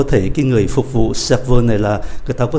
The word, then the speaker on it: serveur: Và chúng ta để ý cách phát âm ở cái âm tiết cuối này, để cho phân biệt là phái nam hay phái nữ.